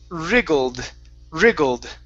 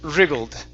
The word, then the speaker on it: wriggled: This is wriggled. Okay, so we don't pronounce the W. Yeah, we don't pronounce the W. Wriggled.